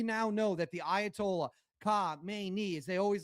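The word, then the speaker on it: Khamenei: We now know that the Ayatollah Ka Mayi as they always like to say, or as they pronounce it over there, was killed.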